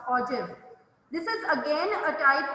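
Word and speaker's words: ogive: o o g i v e it's not pronounced aive it's pronounced oiv this is again a type of frequency polygon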